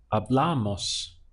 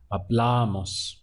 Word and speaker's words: hablamos: Notice that the push down is happening again on that penultimate syllable before last, hablamos. A nice way of remembering is that the stress comes just before the mos sound.